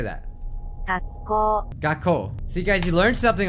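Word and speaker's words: 学校: Gakkou.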